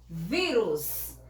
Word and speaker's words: vírus: Vírus. Por que eu acento U? Porque a palavra a sílaba mais forte é vi.